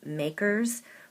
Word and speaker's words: MACRS: Units of production, declining balance and then there are tax methods MACRS pronounced (makers) which stands for modified accelerated cost recovery system and that's tax depreciation.